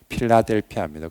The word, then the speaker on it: 필라델피아: 우리 성경에는 빌라델비아 이렇게 적혀 있죠. 필라델피아라고 하죠. 헬라식으로 발음하면 필라델피아입니다.